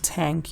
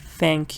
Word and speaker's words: thank: I want to actually it's the th right you shouldn't say tank you said thank you so that means you should put your tongue between your teeth and say that th thank you okay I zoomed in